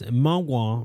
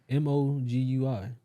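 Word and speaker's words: 魔鬼: In Cantonese, mogwai means devil, demon, or gremlin. The Mandarin pronunciation is mogul. Yeah. One of the What does it mean in Mandarin? mogul, mogui, whatever that is.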